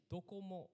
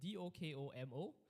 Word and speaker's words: Docomo: So Docomo is spelled with a C here, but actually this is a Japanese company. So actually it's Docomo. So it's Dokomo, and Docomo means anywhere, to be anywhere, like we can be anywhere.